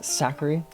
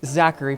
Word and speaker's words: Zachary: hey Mr hi do you like how I say your name sometimes saary no I don't like how you say it sometimes why cuz that's not how you pronounce my name okay Zachary what's it like